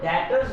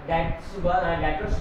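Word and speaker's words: debtors: तो डेटर्स जो है, यहाँ पर टी जो है ये साइलेंट वर्ड है, इसको जो है डेटर्स पढ़ना है।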